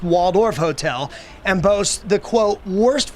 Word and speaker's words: Walled Off Hotel: artist known as Banksy it's called the walled off hotel or pronounced Waldorf Hotel and posts the quote